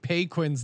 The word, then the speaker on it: Paquin: but for your information, it's correctly pronounced Paquin. Now to get to the question, and I feel horrible for mispronouncing Paquin's name the whole time. Who's that? You mean Paquin? Yeah. It's P A Q U I N. I just kind of put the cut in there.